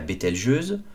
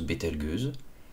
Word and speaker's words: Bételgeuse: immancable il y a bettelgeuse que certains prononcent bettelgueuse bélatrix le baudrier ou